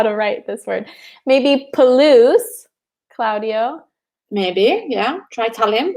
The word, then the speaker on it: Palouse: to know how to write this word maybe Palouse claudio maybe yeah try telling him I said yes Zeus it's a I'm ready to welcome yeah Claudio the Palouse we say the Palouse and I can maybe find a picture of